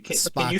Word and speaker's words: Spahkle: So it's Can you Spaka. spell it again one more time?